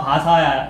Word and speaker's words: 바사: 에스더서에는 메데와 바사 이런 말도 썼는데 거기 바사라는 말이 페르시아를 우리나라식으로 발음하면 파사, 바사 안 되겠습니까? 그죠? 이거 페르시아가 바사란 말이에요.